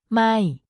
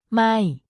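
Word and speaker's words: ไม่: or not in English it's pronounced with a falling tone so your voice goes down slightly when you say it it is important to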